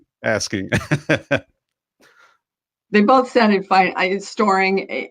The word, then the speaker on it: Stoering: Storing, like you're storing nuts for the winter. I mean, if I'm in Europe, they say Stoering, so it just doesn't matter.